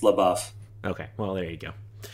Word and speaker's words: LaBeouf: rear window starring uh shia labeouf or la buff i don't know how you say it i believe from the song it's la buff okay well there you